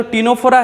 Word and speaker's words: Ctenophora: तो same to same आपका जो टीनोफोरा है, तो आपका जो टीनोफोरा में क्या हो रहा है? आपका सी क्या हो रहा है? साइलेंट हो जा रहा है.